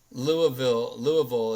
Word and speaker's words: Louisville: Louisville is how you pronounce it if you hail from that city.